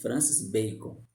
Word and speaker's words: Francis Bacon: E essa é a pronúncia mesmo, tá, gente? Francis Bacon, tá?